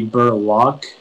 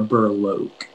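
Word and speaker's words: berloque: the word again uh it can be burlock or burlok burlock am i pronouncing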